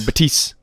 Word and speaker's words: Baptiste: him back because the apparently the P is silent so just be bad so you just fill batise I'm just gonna call